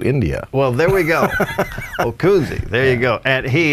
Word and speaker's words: Ockunzzi: right no give us the proper pronunciation the pronunciation is okuni it's okuni three syllables okay now you being a pilot you might remember by Oscar charlie kilo uniform November Zulu Zulu India well there we go okuni there you go and he has got signs